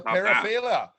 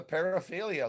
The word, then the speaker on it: paraphilia: have an image well i thought that there was multiple syllables it's a fancy greek word wow okay we i don't know if anyone's going to paraphila it's a paraphilia look it up on